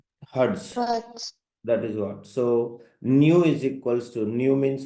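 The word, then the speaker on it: ν: is that actually so that is not a V new you pronounce as a what new okay new means frequency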